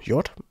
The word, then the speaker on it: Jord: video for this song called uh judd um yord depending on how you want to pronounce it i guess um it's